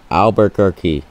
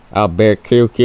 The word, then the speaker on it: Albuquerque: It's hard to pronounce city if you don't know the name. But it's Albuquerque, okay? Not Albuquerque or whatever I used to say.